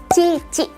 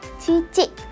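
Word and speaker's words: 父: Dan kanji ini cara bacanya adalah fu ya. Cara bacanya adalah fu. Fu ini artinya adalah ayah. Dan ayah dalam bahasa Jepang adalah cici. Ingat-ingat ya, cici.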